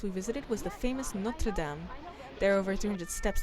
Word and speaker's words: Notre Dame: This is the view of Paris from the top of Notre Dame, or Notre Dame, that's how you pronounce it in French.